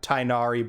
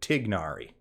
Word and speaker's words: Tighnari: i did it myself i've heard him called tynari by kalei's voice actress in a promotional material i will do my best to use the closer to proper pronunciation tignari now kali let's get into